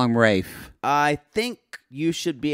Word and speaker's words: Ralph: fine it is Ray fines right it is Rafe Vines but it wins in the U.S to people calling Ralph or do they call him Rafe I think you should be able to call